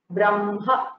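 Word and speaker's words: ब्रह्म: For example, in hakara makara combination, ma is there in Brahma, but we say Brahma. We hear the hakara later and the makara first, so the position is interchanged.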